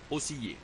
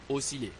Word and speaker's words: osciller: mole dites moi moile osciller ne dites pas osill dites osciler osciler profitrol ne dites pas